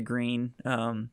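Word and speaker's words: Gruene: We went to Green, which is really cool. Um, And thank and so goodness you anyway, said it her correctly. how do other people pronounce it, like Gruen or Yeah, Gruen? exactly.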